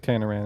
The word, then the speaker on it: Tanaran: Yeah, it's like pronounced like Tanaran in the Tanaran.